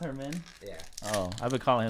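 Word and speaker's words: Germán: Wait, is it actually pronounced Herman? Yeah. Oh, I've been calling him German, though.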